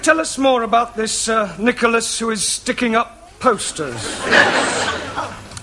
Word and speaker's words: Nicholas: upon a time there was a man called Nikhil us once upon a time there was a woman called Nikken it's pronounced Nicholas sorry once upon a time there was a